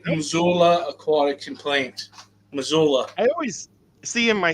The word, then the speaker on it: Missoula: Missoula.